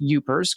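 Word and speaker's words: Yoopers: Yupers, pronounced yupers. Got that one right.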